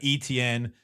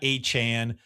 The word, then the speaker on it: Etienne: him Etienne. He's not A-Chan.